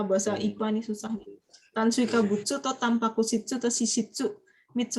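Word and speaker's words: 炭水化物: Bacanya adalah apa tuh? Tansui kabutsu.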